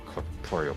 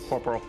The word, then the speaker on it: corporal: Corporal is right. Corporeal is a different word.